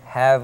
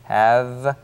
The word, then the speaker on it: have: eny hope enjoy 습니다 have 할 때 V 발음입니다 have에로 아래입술 안쪽을 가볍게 되시죠 have 그다음에가 발음될적인 have have